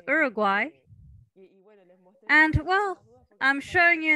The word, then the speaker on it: Uruguay: she i'm 22 years old and i'm it's pronounced uruguay and well i'm showing you in the map